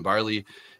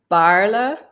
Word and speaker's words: Baarle: correctly or last name um it's Barla um it's a very like kind of weird pronunciation you're very close barley is okay very typical American English uh translation I always try not to do like the A's or the E's but that makes perfect